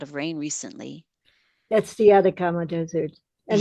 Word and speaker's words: Atacama: That's the Atacama Desert. And it's Yes, yes. happening How do you spell that? Atacama. Atacama. Atamaka?